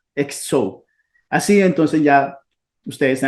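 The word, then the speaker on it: ἕξω: como la quieran pronunciar, se transforma en una X, que es ese signo, pero nosotros la pronunciamos como X, entonces sería exo, exo.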